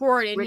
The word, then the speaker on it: Riordan: Is that how you pronounce it? That's the guy that... Rick Riordan, yeah.